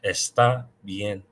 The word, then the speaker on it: está bien: I hear a lot of non-native speakers say está bien, but that's not right. It's está bien. Está, because that's where the accent is.